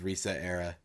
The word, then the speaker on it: ResetEra: Resetera. How do you say it? I unfortunately I say Reset Era, but I think it's Resetera. It's Resetera because it's like etc.